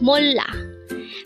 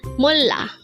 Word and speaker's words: 몰라: Again, it's molla. This is pronounced as a two-syllable word. The first syllable is mol, second syllable is la. Pronounce it with me. It's molla.